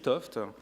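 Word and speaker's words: 't Hooft: Gerhard Toft, alors attention aux jeunes, ça s'écrit Teouf, mais ça se lit Toft.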